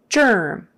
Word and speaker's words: germ: not a j spelled with a G but you say it like a j germ um otherwise straightforward germ